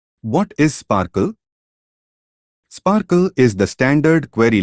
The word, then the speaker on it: SPARQL: Sparkle pronounced Sparkle is the standard query language and protocol for linked open data on the web or for RDF triple stores.